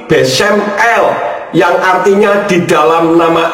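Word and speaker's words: בשם אל: ustaz membacanya besumelah besumelak padahal jika rangkaian huruf bet Sin mem akhir dan Alet lamet itu membacanya bukan besumelah tetapi besem l yang artinya di dalam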